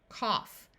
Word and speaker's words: cough: In this word, we have a short O sound, cough. In these words, AU, rather than having its normal sound of ah, will have a short A sound.